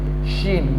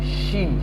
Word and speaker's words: Shin: Then Shin, my dear students, Shin, the sound will be dashing. Shin, Shin.